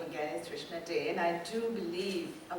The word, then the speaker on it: Trishna Dey: It's Trishna Dey, D-E-Y. I think they left off the tail.